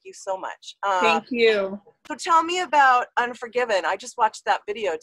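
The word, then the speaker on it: UN4GVN: cool um that song it's spelled u n 4 g v n like there's no vowels in it except for the you yeah great license plate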